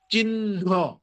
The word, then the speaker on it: চিহ্ন: চিহ্ন এটা চিহ্ন এই যে হ নাই হ কিন্তু হাওয়া হয়ে গেছে হওয়া হয়ে গেছে ন কয়বার উচ্চারণ হলো দুবার উচ্চারণ হইলো কিন্তু মনে রাখতে হবে দুবার উচ্চারণ করলেই হবে না ন কে প্রথমবার অল্প প্রাণে উচ্চারণ করতে হবে পরের ার ন কে মহাপ্রাণে উচ্চারণ করতে হবে।